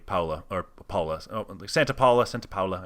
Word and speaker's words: Santa Paula: or paula santa paula santa paula i believe it's how it's pronounced california really amazing place